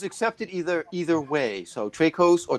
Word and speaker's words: Traicos: either either way so tracos or trachos that's right that's right yes well the actual correct pronunciation is tri-cost but americans say trade costs which i think sounds